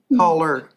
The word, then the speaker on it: Coller: It's Collier. Caller, not year, How do you spell it?